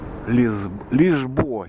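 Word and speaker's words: Lisboa: Лишбоа читается, Лиссабон. Калининград, Берн, Лишбоа, Парис или Пари. Как я же почему говорю, что если на английском прочитать, будет Парис. На французском Пари. А вот Лисбоа написано, это на португальском.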